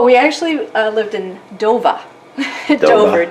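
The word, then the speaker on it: Dover: in Massachusetts oh we actually uh lived in dova do d o v e r but it's pronounced DOA if you live there all right so we're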